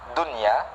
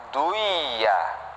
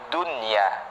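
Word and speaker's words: دنيا: Cara membacanya bukan duiya ya, bukan duiya, bukan diidghamkan, tetapi diidharkan. Dan ini hukumnya wajib, harus ya, harus diidharkan, dijelaskan. Ad-dunya, Rabbana atina fid dunya ya, fid dunya, bukan fid duiya, bukan ya, salah.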